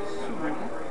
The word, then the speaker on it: Suydam: It said Suydam, S-O-O. Damn, like, damn. God damn. Cool. as in.